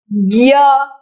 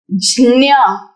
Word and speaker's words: ज्ञ: ज्ञ गलत उच्चारण।